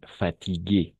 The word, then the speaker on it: fatigué: Mais par contre, ici, on va prononcer, parce que le E est accentué, on va prononcer fatigué, d'accord? Choqué, blessé, effrayé, d'accord? Fâché, comme liberté. On prononce, n'est-ce pas? E à la fin.